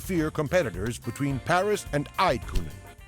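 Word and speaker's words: Eydtkuhnen: With this, we no longer have to fear competitors between Paris and Eidkunen. Aitkonen.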